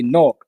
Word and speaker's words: Newark: north okay no yeah as the uh the locals say north yeah yeah n-o-r-k yeah yeah yeah yeah